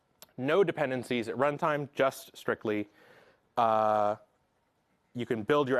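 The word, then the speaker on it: Stricli: announcement yesterday we have strictly this is the application this is the CLI framework that we developed internally and we released as open source software yesterday it is pronounced strictly like the word strictly um there's no dancing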